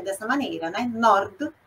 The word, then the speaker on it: nord: Nord, sud. Interrompe ali no D mudo, a gente não inventa a vogal ali. Mas, por exemplo, nord Itália, sud Itália, fica quase, né, uma pronúncia uníssona.